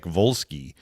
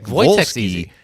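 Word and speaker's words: Wolski: I don't remember which, but he spelled his name with a W. Both both first and last names were were like they started with a W. Yeah. But it was Voytech Volski.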